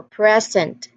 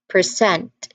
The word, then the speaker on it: present: where the stress is on the first syllable, this will be considered as a noun in part of speeches. So when we say it's a noun, the explanation here is that it means as a gift or something given. So present. But when we say it's a verb, which means which means to show or give something, the stress shifts to the second syllable.